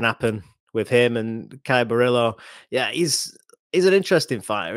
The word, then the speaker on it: Borralho: You might have to help me there, Sam, the pronunciation. Yeah, Borralho, yeah.